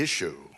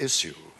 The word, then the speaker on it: issue: One that I hear every day, which makes me boil with rage, and that is a word which apparently is spelt I-S-H-Y-O-U. The issue, instead of issue.